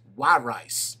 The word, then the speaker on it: Wirice: It's Wirice. Like, why would you eat rice? Instead of would you, just why rice?